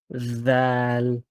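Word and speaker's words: ذال: So you're saying it right, but the tongue should come out like of between the teeth when you say it,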